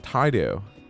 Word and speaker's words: Taidu: I want to name him like Taidu. Like, you say Taidu? Out of my way. like the first syllable of Tide, and then the last syllable of Mountain Dew, which are like my 2 favorite things to drink.